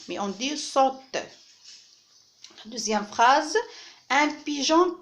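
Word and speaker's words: sautent: Alors ici, il ne se prononce pas. On ne dit pas sautant, mais on dit saute.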